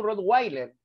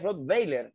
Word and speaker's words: Rottweiler: laboratorio alemán, no, ya no digas tú Rottweiler, ese es propio de ignorante, es Rottweiler, BF, Weiler, Rottweiler, ¿correcto? Con todo lo que te estoy manifestando, que ha demostrado que la H y W se escriben, pero no tienen fono ni fonema en el español.